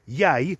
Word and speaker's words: Ye: although these days he goes by the name yay spelled y-e the same as the old English word Yi which was actually pronounced